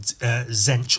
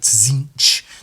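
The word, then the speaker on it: Tzeentch: Gods there's another God called zench or zinc depending on how you want to pronounce it and that's all like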